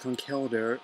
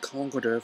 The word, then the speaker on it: Conkeldurr: That Trip is there, and it's apparently it's pronounced Conkeldurr, the biggest evolution that I've been pronouncing it Conkeldurr from just having the games to go on, not having it pronounced in the show at all.